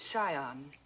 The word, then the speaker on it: scion: The word is scion. The C is silent.